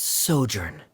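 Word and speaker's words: sojourn: Uh, Director Zosimos, how do you pronounce this word? Let me see. Ah, that's sojurnn.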